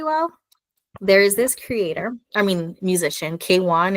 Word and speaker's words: KWN: Another person I think that really kind of balances it really well, there is this musician, K1. It's spelled KWN.